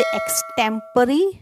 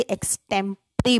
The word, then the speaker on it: extempore: Speech होती है उसे एक्सटेम्परी या फिर इम्प्रॉम्प्टू स्पीच बोलते हैं। आप इसकी प्रोनाउंसिएशन ध्यान से देख लें, इसे एक्सटेम्परी बोलते हैं।